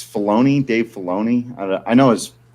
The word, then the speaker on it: Filoni: there you go yeah how is his name pronounced dave is it's filoni dave filoni i know his face he's really